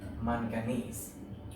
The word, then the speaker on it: manganese: Mn, it's manganese.